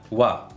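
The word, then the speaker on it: は: Tapi yang jelas ha, kalau dia sebagai partikel dibacanya wa. Oke, bukan ha ya. Wa.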